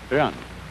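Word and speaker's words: 仁: Although when we Romanize this word in English, we spell it J-E-N, it's pronounced Run. Sort of like rolling an R, or rather saying R but not rolling it.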